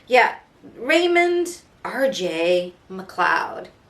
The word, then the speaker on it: McLeod: name yeah raymond r.j macleod his name is spelled m c l capital l e o d but you say it like macleod seems like all these